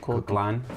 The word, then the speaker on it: Koechlin: with the Straw, starring, I guess we've been pronouncing her name wrong. It's Kalki Koechlin.